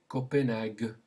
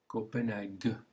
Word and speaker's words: Copenhague: Okay, say it after me, Copenhague. Copenhague. There's the G sound.